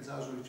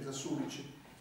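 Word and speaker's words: Засулич: Innanzitutto dirò a questo proposito che Vera Zasulic, pronunciate Zasulic, ma il vero nome, la pronuncia è Zasulic, che è questa rivoluzionaria molto interessante.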